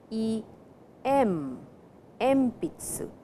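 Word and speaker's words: えんぴつ: pronounce it it is e m MP Tzu so before P the sound n changes to M please remember it is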